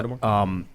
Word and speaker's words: Holodomor: Is that how you pronounce it? Yeah. Holodomor.